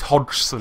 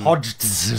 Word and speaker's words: Hodgson: Stanley, it's pronounced, he done it, it's hard to pronounce on purpose. It's not that hard to pronounce. It's Hodgson. Hodgson. So it's Stanley Hodgson. Everyone gets it wrong though.